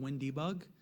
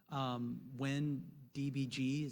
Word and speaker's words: WinDbg: Windows has their own fully supported debugger called WinDebug. WinDBG, some people, that's not, you'll get a lot of flack for saying it that way, but that's how it's spelled.